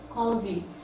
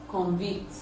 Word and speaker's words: convict: The pronunciation of noun, desert, is different from the verb, desert. So let's check other examples. Convict, convict.